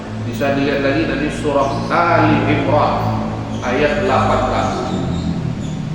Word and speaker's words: Ali Imran: dilihat lagi dari Surah Ali Imron ayat 18 jadi bacanya Ali Imran bukan sebagai al-baqarah al-kahfi karena ahli keluarganya Bapak imroh hal ini Al keluarga